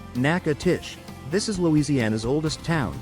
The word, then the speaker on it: Natchitoches: Pronounced Natchitoches.